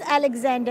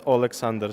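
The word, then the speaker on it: Олександр: by our pronunciation it's olexander so it's it's like Oh instead of a but at the end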